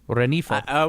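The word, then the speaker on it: Rengifo: third base if Luis Renifo, I can't remember, is that how Jeff pronounced it? Because his name is spelled phonetically Renigfo. But I believe you pronounced it Renifo? Renifo.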